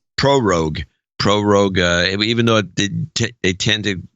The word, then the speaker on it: prorogue: And they're trying to prorogate or whatever it's pronounced. Prorogue, even though they tend to take this time off anyway, according to all the experts.